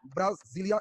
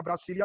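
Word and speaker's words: Brasília: और ब्राजील की राजधानी ब्राजीलिया या ब्रासीलिया, कहीं कहीं मिलता है, प्रोनाउंसिएशन पर है।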